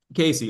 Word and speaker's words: Casey: Cassie, I think I heard you first. A few of you guys. So well done, guys. Is it Cassie? Is that the correct pronunciation? No, Casey. Casey.